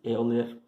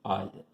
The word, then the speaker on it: Euler: Então, isso aqui é chamado nosso número de Euler. Escreve-se Euler, porém pronuncia-se Euler.